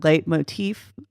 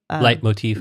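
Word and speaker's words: leitmotif: kind of get this you corrected my pronunciation on it late motif light motif like my teeth musical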